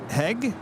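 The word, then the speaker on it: Hej: Hi, Kevin and Rudy. Hope everything is well with you both. Autumn has arrived in northern Sweden. Heg, hello, pronounced as hi.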